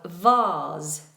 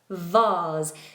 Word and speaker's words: vase: Now, there is a difference in pronunciation between British English and American English with this word. Something you put flowers into. A container for flowers. In England is vase. Nice open vowel. R. In America is vase.